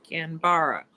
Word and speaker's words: Canberra: Canberra. I'm going to pronounce it. There we go. No definite enunciation of the E.